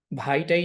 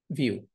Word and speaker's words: Vue: ভিইউই, এটার উচ্চারণ কিন্তু ভু না, এটার উচ্চারণ কিন্তু ভাইটাই না, এটার উচ্চারণ হচ্ছে ভিউ, ভিউ জিএস।